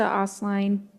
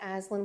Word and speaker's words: Aslan: My name is Aslan, like Chronicles of Narnia, just for future reference.